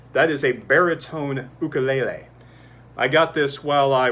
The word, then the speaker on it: ukulele: wrong with your voice ukulele is the way you actually pronounce the instrument from the islands i know that because